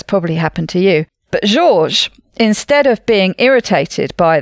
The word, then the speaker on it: Georges: called george de mestral i guess that's that's probably should be pronounced georges georges de mestral was